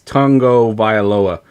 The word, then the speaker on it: Tagovailoa: It's Tungo Vailoa. That's how you pronounce it. I think it's just tongue. Oh. I'm saying Tagovailoa.